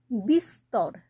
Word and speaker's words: বিস্তর: উচ্চারণ করছি আবার ধরো বিস্তর এখানেও কিন্তু বয় হস্ দন্তের স্বয় নিচে ত আছে তারপরে বৈষ্ণ আছে তাহলে স আর ত দুটোই উচ্চারণ কিন্তু আমরা করলাম তাহলে কোথায় উচ্চারণ উজ্জ্ব